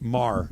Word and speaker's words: Maher: kicker for the Rams is Brent Maher right Mar yes he you know who you pronounce it he missed five Pats in the